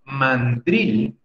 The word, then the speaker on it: mandril: confusión pero en realidad mandril tiene la sílaba fuerte en la última drilling se debe pronunciar